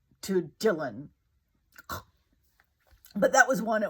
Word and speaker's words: Dylan: for whatever reason he he pronounced the name as Dion instead of Dylan and when I heard